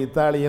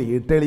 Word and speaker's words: இத்தாலி: நேற்று வரை இத்தாலி என்றோம். சில தொலைக்காட்சியில் இப்பொழுது இட்டலி என்கிறார்கள். கூடவே சட்டினி அனுப்புங்க. நாட்டுக்கு பெயர் இட்டலியா? இத்தாலி என்பதை அவர்கள் இட்டலி என்கிறார்கள்.